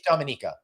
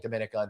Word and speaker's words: Dominica: in and go to dominica yeah that's right all right everybody thank you dominic or dominica uh it's dominica okay we are us new yorkers we're saying dominican you see right now